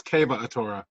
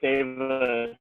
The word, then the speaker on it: Kava Atora: yeah, I'm sorry, I've been pronouncing that wrong. It's Kava Atora. Sorry. No, it's cool. I've been saying Seva, so.